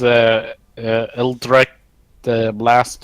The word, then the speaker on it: Eldritch Blast: I use Eldritch Blast on it. You pronounced it correctly.